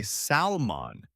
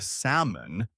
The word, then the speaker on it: salmon: But if you say salmon instead of salmon, a waiter at a restaurant might look a little confused.